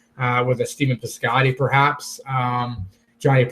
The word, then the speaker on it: Jhonny: a Stephen Piscotty perhaps Jhonny Peralta the silent h there I don't mind